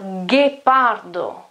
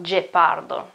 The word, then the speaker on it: ghepardo: Or ghepardo, ghepardo, ghepardo. Okay, it's not gepardo.